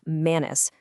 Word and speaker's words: manus: Out in the wild, specifically in zoology and paleontology, the word manus, pronounced manus, is used in its purest Latin form.